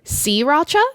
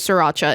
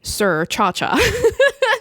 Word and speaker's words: Sriracha: legality of it, because Sriracha is actually a town in Vietnam, which is correctly pronounced Sriracha, but the American pronunciation is Sriracha, and he says that either way is fine. Sriracha is just the way the city is pronounced. Or if you're my dad, for some reason, you say Sir Cha-Cha.